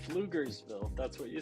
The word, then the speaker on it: Pflugerville: Pflugersville. Yeah, starts with a P, right? The P is silent.